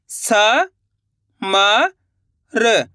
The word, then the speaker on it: समर: जब भी शब्द पढ़ना है, तो लास्ट वाले अक्षर का उच्चारण आपको आधा करना है। क्या करना है? आधा करना है। कैसे करना है? चलिए देखिए। स म र का उच्चारण कैसे करेंगे? र। तो मिलकर बन जाएगा समर।